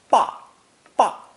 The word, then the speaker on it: 爸: Pronounced fourth tone, 爸爸.